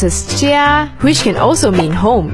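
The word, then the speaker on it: 家: plus plus represents a window frame and it's pronounced as Chia which can also mean home in Chinese discover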